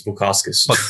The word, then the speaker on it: Bukauskas: It's not Bukaki, it's Bukauskas. Bukauskas.